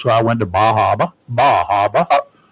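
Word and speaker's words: Bar Harbor: Bajaba, that's how you pronounce it. It's Bahaba.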